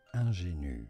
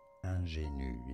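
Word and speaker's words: ingénue: From French, ingénu, French pronunciation, ingénu, ingénu. In English, you could say it as ingénu, ingénu from French.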